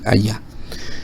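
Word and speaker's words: היה: lo que tenemos es el verbo allá allá que es el verbo ser o estar en hebreo pero se pronuncia así allá pero está conjugado él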